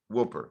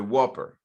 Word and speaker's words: Whopper: millions and millions of dollars on the name Whooper Whooper or how do you pronounce it the Whopper thank you right this is true and it